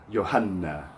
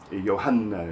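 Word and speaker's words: يوحنا: mursalun min Allahi ismuhu Yohanna. Yohanna is the classical form of the name John, taken from the Greek, put into that formal Arabic. Yohanna. And that N is doubled when you say Yohanna.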